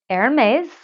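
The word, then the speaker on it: Hermès: can't say it properly I call it Hermes I am aware that you're supposed to say Aaron Mays or whatever and I just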